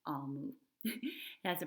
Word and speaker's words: Omu: lets us know that Amu is pronounced Almu.